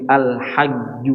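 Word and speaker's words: الحج: Nutquha mathala harfi G, ya. Membacanya seperti membaca huruf G dalam bahasa Indonesia. Nah. Contohnya di sini al-hajj, coba. Al-hajju.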